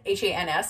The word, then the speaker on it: Hans: And then we have Big Hans, and it's spelled H-A-N, like H-A-N-S, like Hans. So it's Big Hans.